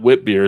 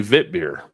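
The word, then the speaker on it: witbier: of it just like just like it's not Whit beer it's really vit beer it's a difference meren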